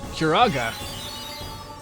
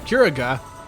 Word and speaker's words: Curaga: Curaga. Oh no, I said it wrong. Curaga.